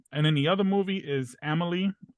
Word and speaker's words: Amélie: So, and it's called Amélie. Amélie. It's spelled Amelie. Oh, like the arena.